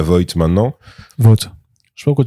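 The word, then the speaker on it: Vought: je sais pas pourquoi tu dis vo mais c'est vote vote. Ben en fait vote non parce qu'en fait vu que c'est o ght h je me suis dit ils doivent le prononcer comme thought tu vois. Ouais mais pas vo bah vo du coup non parce que vo c'est vo c'est de l'allemand c'est c'est autre chose.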